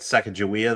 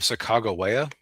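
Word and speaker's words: Sacagawea: Uh the funny thing is I I had a teacher once who was very clear once that you would actually pronounce her name Sak Chicagoa. Uh but uh which that adds an extra layer of humor to me because everybody's being so insistent about a wrong pronunciation.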